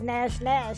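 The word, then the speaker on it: Gnash: Nash, or is it Nash, and the G is silent.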